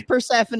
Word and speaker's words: Persephone: Persephone. It's Persephone is an enrolled member of the Omaha tribe